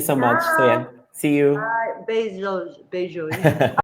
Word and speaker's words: beijos: How do you say beijos, kisses in Portuguese?